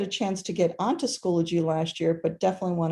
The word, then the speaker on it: Schoology: um so it is schoology so it's not schoology where i've i've heard it said that way it's schoology like biology schoology um it is